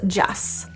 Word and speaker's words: just: just this one's tricky because if there is a consonant or a word that starts with a consonant after this word we drop the T so just becomes Jess just give it a